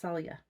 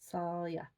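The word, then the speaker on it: Saille: Okay, so it's associated with the willow tree, and it's pronounced Salya. Salya.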